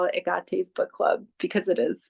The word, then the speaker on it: Hecate: And if you're familiar with Agate, some people know her as Hecate, but the true pronunciation is Agate because the H is silent in Greek, and she is a Greek goddess.